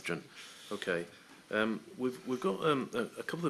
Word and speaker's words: Rathjen: Mr. Rathjen, is that the correct pronunciation? Yes, thanks. Rathjen.